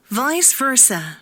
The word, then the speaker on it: vice versa: 아는 대로 먼저 좀 발음을 해보시면 좋을 것 같은데요. 이거 뭐예요? 좀 친숙한 단어죠, 이거는. entrepreneur이거든요. 엔트레프레네우르 이렇게 됩니다. 그 다음에 비세베르사 이렇게 네, 근데 이것들 발음이 어떻게 됐는지 그 다음에 또 뭡니까? 캐트라 이렇게 그 다음에 네 마에스트로 그 다음에 아바타 그리고 또 파파라치 이렇게 되는데 실제 원어민 발음은 어떤지 한번 들어볼게요.